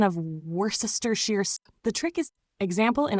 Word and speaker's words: Worcestershire: pronunciation of Worcestershire sauce is simpler than it looks. Here's how to say it. Worcestershire, Worcestershire, though common in British English.